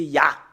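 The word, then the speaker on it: יה: Nous savons très bien, le fait de le prononcer, c'est Ya. C'est Ya, le fait de le prononcer selon la Bible hébreu ancien.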